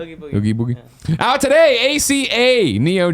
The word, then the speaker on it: Oogie Boogie: Oogie Boogie.